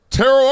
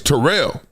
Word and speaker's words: Terrell: I thought it was Terrell Owens. He's like, "It's Terrell."